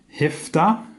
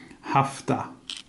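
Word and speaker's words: هفده: once so 17 in the colloquial sense is pronounced heft ax but you can also in the written sense of formal sense it's called hafta but if thou is the one we will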